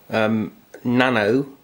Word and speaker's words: Nanao: It is a Nano, I think it's pronounced that, it's N-A-N-A-O, MS-2931.